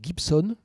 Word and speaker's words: Gibson: qui s'appelle James Jerome Gibson. Alors, comme ça se prononce, hein, comme la guitare, G-I-B-S-O-N.